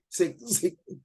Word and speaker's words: Sikh: Sikh. It pronounced as Sikh, not S-I-C-K.